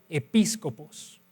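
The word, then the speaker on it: episkopos: Esta es la palabra griega episcopos, episcopos. Entonces, si alguien quiere anotarla, episcopos, se escribe con K en vez de C, episcopos, y todo lo demás como se escucha, ¿sí?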